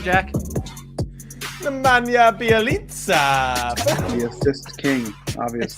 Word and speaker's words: Nemanja Bjelica: Nemanja Bjelica.